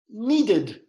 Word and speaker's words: needed: them the first one needed there are two syllables there and if you listen to the end it's like a it'd needed needed okay and the second